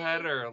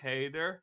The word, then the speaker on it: Hader: Hader.